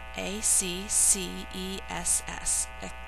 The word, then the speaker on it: access: ability to get into a c c e s s access and the emphasis is on the first syllable access number 17 is